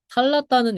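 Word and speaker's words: θάλαττα: 그래서 탈랐다는 그 아티카 발음이고 탈라사는 이제 다른 지방 방언입니다. 그래서 발음이 원래 T랑 S는 자주 바뀌어요. 그냥 스 발음을 강하게 하면 트가 되고 트 발음을 약하게 하면 스가 되고 이런 거라서 혀 자리가 비슷해서 그래서 이 탈라사, 탈라타 둘 다 됩니다.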